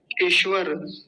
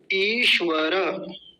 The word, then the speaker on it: ईश्वर: की कर देते हैं ईश्वर तालव्य सकार ठीक से नहीं बोलते और रेफ को आधा कर देते हैं इस र को तो क्या बोलते हैं ईश्वर गलत है सही उच्चारण क्या होगा ईश्वर हे ईश्वर दयानिधे संध्या